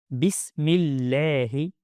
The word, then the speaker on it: بسم الله: Bismi Bismillahi The lam is recited with a light sound because it's preceded by a kasra.